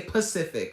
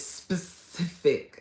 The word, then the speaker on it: specific: Oh, most people don't say specific, right? Am I saying it right? They say Pacific, right? Isn't that what people mostly say? But it's specific.